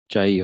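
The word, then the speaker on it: chi: this constant is chai or kai, whatever, different people pronounce in a different way, ठीक है।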